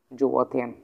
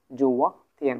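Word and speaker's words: 昨天: পেলাম, একটা হচ্ছে কি জুয়া থিয়ান। কি জুয়া থিয়ান? তাহলে জু থিয়ান যদি আমরা জানি তাহলে কি করতে হবে? জুয়া জুয়া থিয়েন, জুয়া থিয়েন। তাহলে উচ্চারণটা কেমন করে দিব? জুয়া তারপর দিব থিয়েন, জুয়া থিয়েন মানে হচ্ছে, ঠিক আছে, গতকাল, গতকাল।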